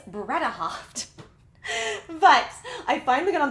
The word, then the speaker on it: Bredehoft: wrong this whole time i've been saying bren with an in it's bretta hopped but i finally got